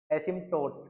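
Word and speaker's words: asymptotes: अरे सही बोल रहा हूं। हंसो ना इतना। एसिम टोट्स। ठीक? यही बोल रहे हैं। स्पेलिंग भले गलत हो लेकिन मैंने सही बोला।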